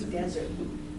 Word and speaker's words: desert: And how do you pronounce this one? This is desert.